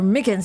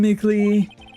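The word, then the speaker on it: Meekins: Actually, Officer Micken said that the detention center told us. Ah, that poor little doggy. Poor guy, I kept getting his name wrong and calling him Mickey.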